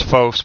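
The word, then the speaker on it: φῶς: That's a long O there, so it's phos, but Jesus is the divine illumination of the truth.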